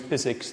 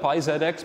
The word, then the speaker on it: PyZX: like how we use physics to use it i know it looks like pi zx but like it's pronounced physics because it's more fun